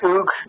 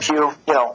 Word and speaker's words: Hugues: It's in French. It's pronounced Hugues Montu. Okay. And, but we call him Hugh. We're Americans, so.